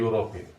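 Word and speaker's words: European: അപ്പൊ അങ്ങനെ വെച്ച് നോക്കുമ്പോൾ ഇവിടെ തന്നിരിക്കുന്ന യൂറോപ്യൻ, ഈ യൂറോപ്യന്റെ ആദ്യത്തെ അക്ഷരം എന്താണ്?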